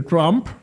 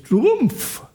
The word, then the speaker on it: Trump: Sí, a mí me molesta que se que todo el mundo dice Trump, aunque es Trumpf, porque él él tiene,